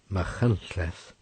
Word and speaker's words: Machynlleth: Machynlleth, pronounced Machynlleth, is one of the